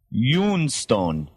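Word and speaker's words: ioun stone: ion stone is in it and it's actually pronounced Yun Stone it's y Stone y o o n St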